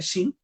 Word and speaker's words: Shin: Es por eso, para los que ya están incorporándose, es que estamos hoy día, invitamos al director de Shin Medicina, así se pronuncia Shin, Sí, sí, sí, Shin sí.